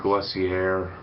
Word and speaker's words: Lussier: film, because Patrick Lussier, or I say Lussier, not most people pronounce it Lussier. I don't like to say that. I like Lussier. Lussier sounds badass and manlier than Lussier. Plus, there's no fucking R in Lussier, and there's an R in Lussier.